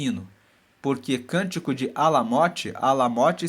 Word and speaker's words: Alamote: Porque cântico de Alamote, Alamote se escreve A-L-A-M-O-T-E, Alamote.